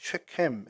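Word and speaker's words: שכם: 세겜이라는 이제 발음은 이제 정확히 쉐켐 해가지고 목덜미, 어깨 이런 뜻이 있고요.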